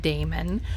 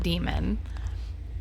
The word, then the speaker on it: daemon: It's pronounced daemon, not demon.